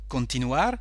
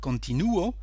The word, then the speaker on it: continuar: Another verb, continuar, to continue. Here the stress is on the letter U. So we have continuo, continúas, continúa, continuamos, continuáis, continúan. Okay?